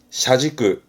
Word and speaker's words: 車軸: 발음은 샤지끄, 샤지끄, 음으로는 지끄입니다. 샤지끄.